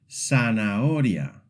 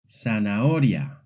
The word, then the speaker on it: zanahoria: In Latin American Spanish, Z is very simple. It's pronounced just like S. This means that any word with a Z sounds exactly the same as if it had an S.